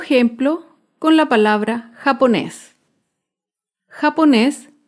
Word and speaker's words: japonés: con la palabra japonés japonés es una palabra aguda se acentúa en la última sílaba y lleva tilde porque termina en la consonante ese japonés un ejemplo de una